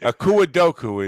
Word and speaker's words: Akua Doku: Akua Doku is how you pronounce it. I was just going to call her Okie Dokie.